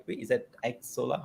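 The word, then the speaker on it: Xsolla: Is that X Zola? How do you say it? Correct, Xsola. I mean, it's No. pronounced a few different ways, but I pronounce it Xsola, so perfectly All right.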